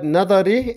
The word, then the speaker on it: Nadhar: from this are that there is a fatha on the word nadari and also on the word fikari many are in this regard and pronounce both these words with a sukun likewise it is in the title that is incorrect the correct name that